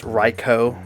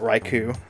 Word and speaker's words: Raichu: still say Arcanine Aran Raichu is pronounced raicho not Raichu but yeah I mean